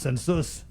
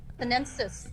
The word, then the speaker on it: sinensis: It's not pronounced census. Sinensis. Sinensis.